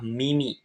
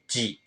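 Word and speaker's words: 耳: enam goresan ya minasang untuk kunyominya adalah Mimi yang artinya telinga ongyominya J Cara pakainya gimana langsung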